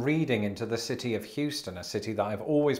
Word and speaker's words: Houston: And that's because it was recently brought to my attention on Twitter that this is pronounced not Houston Street, but Houston Street.